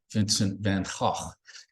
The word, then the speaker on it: Vincent van Gogh: He said, if you pronounce the letter G in Dutch in front of a mirror and the mirror remains dry, you're mispronouncing the language.